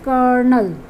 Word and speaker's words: colonel: So it is kernel, not colonel. It's not colonel, it's kernel.